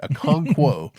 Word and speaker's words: Okonkwo: Okonkwo.